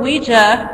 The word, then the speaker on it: Ouija: Kennard, whatever, stated that he named the new board Ouija, pronounced Ouija, after a session with Miss Peters, Elijah Bond's sister-in-law.